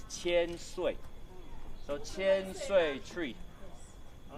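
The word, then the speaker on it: 千岁: The Chinese pronunciation is qian sui.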